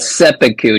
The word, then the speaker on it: seppuku: It's called seppuku, Jeff. Whatever. You can't even say it right.